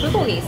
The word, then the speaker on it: bulgogi: Yeah, the bulgogi. Bulgogi. That is how it's pronounced.